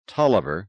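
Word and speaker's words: Taliaferro: that's the original spelling said Gwen but it's pronounced toer just the same are you sure quite sure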